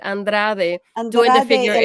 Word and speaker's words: Andrade: We had Andrade, that's how you say it, Andrade doing the Andrade figure el eight.